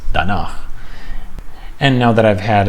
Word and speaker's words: danach: I might have thought it was danach, but it's danach.